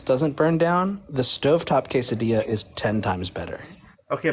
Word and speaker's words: quesadilla: Especially quesadillas are so good. It's pronounced quesadilla.